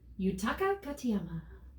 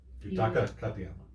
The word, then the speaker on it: Yutaka Katayama: No, it's Yutaka Katayama. Yutaka Katayama. Yutaka Katayama.